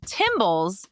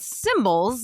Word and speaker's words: tymbals: Male cicadas vibrate special body parts called tymbals to make their super loud summer songs. So not cymbals like in a band, tymbals, spelled the same but with a T instead of a C.